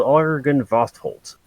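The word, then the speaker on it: Argynvostholt: they call the mansion argon vostholt argen vosterholt my pen is dying a-r-g-y-n yeah that's it jesus i've i've heard it spoken many times so that's why i'm sure i knew how to pronounce it yes i believe it's called argent vosholt and that's perhaps where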